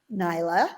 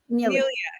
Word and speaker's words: Nelia: So, guys, this is my dear friend Radha Nyla. Is that how you pronounce it? Nelia, yes.